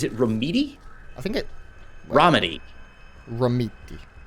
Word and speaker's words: Romiti: Romiti. Romiti. Sounds way more Italian. Oh, it definitely does. I always want to like add an extra E, like Romanici or something, which just sounds totally wrong.